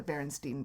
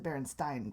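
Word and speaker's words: Berenstain: as berenstein it's not they're not the berenstein bears they're the berenstein bears oh well then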